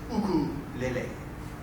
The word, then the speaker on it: ukulele: you're not going to touch one until you pronounce it correctly in in the Hawaiian way, and that's ukulele leule."